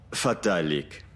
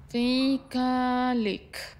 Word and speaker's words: fatalic: Ficalic. ¿Cuál ficalic, Lisa? ¿Cuál ficalic? Fatalic. Fatalic. Fatalic. Sí. Y debes pronunciarlo delicadamente. Y ya sabes, en latín suena incluso como una aspiración.